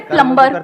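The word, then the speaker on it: plumber: सर जैसे प्लम्बर, सब लोग प्लम्बर बोलते हैं हमारे देश में, बढ़िया है यार, क्या दिक्कत है? बी साइलेंट है उसमें।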